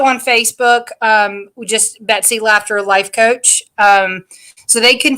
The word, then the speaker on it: Laughter: simple and it sounds it's spelled just like it sounds like something's funny um i'm on instagram and that is laughter makes everything better i